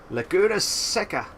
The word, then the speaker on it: Laguna Seca: in a moment or two at the raceway laguna seca that's how you pronounce it i'm sorry like a boxer and